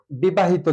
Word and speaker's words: বিবাহিত: আবার আছে যেমন যে বিবাহিত যদি লিখি বিবাহিত, মানে ইত আছে শেষে, বিবাহ যকিত, অর্থাৎ এটা উচ্চারণ যদি করি বি বা হি তো, অর্থাৎ এখানে বি বা